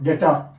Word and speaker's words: debtor: E is silent. D-E-P-T-O-R. Correct? So debtor.